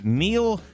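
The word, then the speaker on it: Neel: Well, it's Neil, just an odd spelling. N-E-E-L is Sure.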